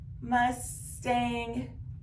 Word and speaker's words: Mustang: go get the Mustang which one is Mustang come here Mustang Mustang correct your second syllable is going to be accented so we're going to put an accent mark now we're going to